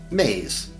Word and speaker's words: me: which we will call me's pronounced maize belief systems and words